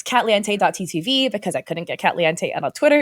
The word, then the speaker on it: Katliente: It's like caliente in Spanish, but with K-A-T in the front. And no, my name is not Katie. It's Kat. People always mispronounce it because it looks like Katie if you're not paying attention. It's like Kate Lee. Yeah, it's like Katliente, like that, not like Katie.